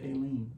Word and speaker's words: Aleene: legacy in crafting, and they pronounced it Aileen.